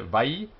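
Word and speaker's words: וַיֹּאמֶר: Vayomer. The first syllable is closed. Vay. Second one's open. Yo. And the last one is closed. Mer.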